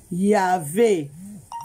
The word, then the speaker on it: Yahvé: Ils ont commencé à prononcer Yahvé, Yahvé, Yahvé. Ils commençaient à prononcer comme ça.